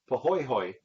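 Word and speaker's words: pāhoehoe: like the bottom part of this picture it's pronounced pohoy okay and then the third is what's called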